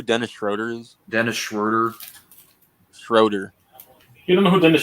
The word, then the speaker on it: Schroeder: Schroeder is Dennis Schroeder Schroeder you don't know who Dennis Schroeder is rotor he's German that's how it's pronounced I mean I'm going